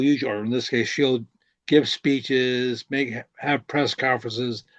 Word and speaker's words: Chell: okay, I think the C is silent.